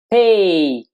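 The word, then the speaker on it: פ: A letra do alfabeto hebraico de hoje é a letra Pei. Pei, se ela tiver um dagesh, um pontinho no centro, mas se pronuncia Fe, Fe, quando ela está sem o dagesh.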